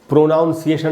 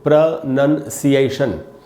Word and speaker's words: pronunciation: में बताया है कि ये जो वर्ड है इसको हमको प्रोनाउंसिएशन नहीं पढ़ना चाहिए, इसका शुद्ध उच्चारण होता है दोस्तों प्रोनंसिएशन। कैसे पढ़ेंगे? प्रोनंसिएशन। आपको थोड़ी सी प्रैक्टिस करनी पड़ेगी। प्रोनंसिएशन ऐसे इसको पढ़ना चाहिए।